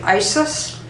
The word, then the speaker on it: Isis: is a simple one it's simply Isis but it's pronounced I this and saying that repeatedly